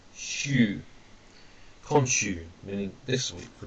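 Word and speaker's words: 週: And then here we have week, pronounced shu, konshu, meaning this week, for example.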